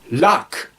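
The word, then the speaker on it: luq: call that a crush luck luck means to flap that's what a birds does with the wings he's flapping that's what the word luck means it rhymes with English luck Joe Joe is the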